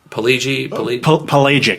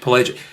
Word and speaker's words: Pelagic: I actually it's very um what's how you pronounce the last album? Oh. Uh, Pelgi Palagic. Pelagic.